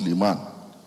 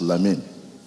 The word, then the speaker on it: Lamin: Not Liman, as the organizers have pronounced it. It's Lamin, popularly known as Amin.